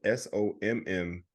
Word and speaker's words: sommelier: It's spelled SOMMELIER.